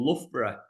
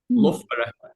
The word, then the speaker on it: Loughborough: Have you ever heard of a place called Loughborough? Loughborough. It's sort of spelled like with that, OUGH sort of situation we have.